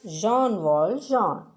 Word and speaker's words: Jean Valjean: and his name is john waldron let us pronounce it as jean-wall john let us move ahead and read the play